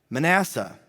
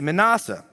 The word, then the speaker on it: Manasseh: And then we have in verse 10, Manasseh. You could say Manasseh. You say Manasseh, I say Manasseh. Part of me does this because I think it rhymes with NASA, and it helps me